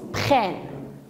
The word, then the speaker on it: prennent: Même si ici on n'a pas l'accent, mais on prononce prennent. D'accord? Ici on a une double consonne, c'est pour ça qu'on n'a pas mis l'accent.